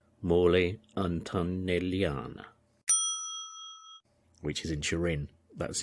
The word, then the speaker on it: Mole Antonelliana: He's also very famous for designing a very well-known dome called the Mole Antonellian. Mole Antonellian. I'll have to get the pronunciation right. Mole Antonelliana.